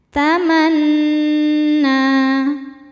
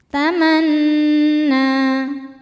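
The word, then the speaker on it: تَمَنَّىٰ: Selanjutnya ada gunnah musyaddadah karena nun bertasydid. Cara bacanya berdengung, tahan dengungannya kurang lebih 2 harokat. Tamanna. Na mad tabi'i muqaddar karena nun berharokat fathah panjang. Cara bacanya panjang 2 harokat.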